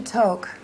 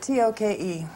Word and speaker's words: Tok: on the way to toke neither of us spoke for hours i almost in this poem spelled it t-o-k-e that's how it's pronounced it's spelled that wouldn't